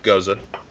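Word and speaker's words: Gose: So for people who don't know what a Goza is, first it's pronounced Goza, and second it's an interesting beer style.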